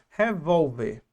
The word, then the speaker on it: revólver: A palavra revólver. Qual é a sílaba tônica? A penúltima.